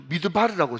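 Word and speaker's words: מדבר: 여러분 광야가 뭔가 하면 미드바르 MD B R 그죠? 그러니까 항상 여러분 제가 왜 지금 스펠링을 이야기하는가면 여러분 히브리어는 자음밖에 없거든요. 그니까 미음 디귿 리얼 비업 이렇게 해가지고 미드바르라고 그들 읽어요.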